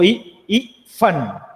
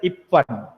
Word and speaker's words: इफ्फन: का correct pronunciation नहीं हो रहा है, उसका उच्चारण वो इफ्फन, इफ्फन के जगह पर इप्पन, इप्पन, इफ्फन ऐसे बोल रहा है ना।